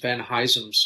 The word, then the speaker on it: Van Huysum: I mean, in a way, an American would say it would be just Van Huysum's tulip. I think Dutch would be something like Van Huysum or something.